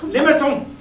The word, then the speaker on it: limaçon: Limaçon.